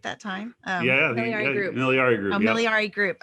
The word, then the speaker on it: Miliare: Miliare Group.